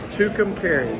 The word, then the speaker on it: Tucumcari: yeah yeah how do you say it again tucumcari that's right two containers new mexico i i'm